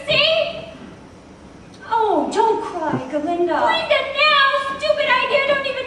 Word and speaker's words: Glinda: Since Dr. Dillamond had his own way of pronouncing my name in solidarity and to express my outrage, I will henceforward be known no longer as Glinda, but as simply Glinda.